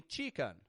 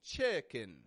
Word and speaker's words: chicken: called chicken and notice the short eye in that word there CH chicken not a ch ch I do have many students who will tell me Chen and I can't blame you that's how it's spelled is it not Chen but that's not what I'm saying I'm saying chicken chicken strong weak up down chicken and the proper